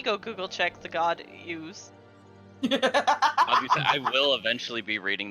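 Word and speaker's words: Iuz: the last book is concerning the demigod Ooze and its minions. Ooze. It's I-U-Z. You tell me. I'm going Ooze, with got it. Ooze. I'm That's saying fine. the I is silent.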